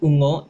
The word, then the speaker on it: ungo: This might be a hard one to pronounce because of the nga letter. There's 3 letters here, u, nga, o, ungo, right? U, nga, and o, ungo, which means monster.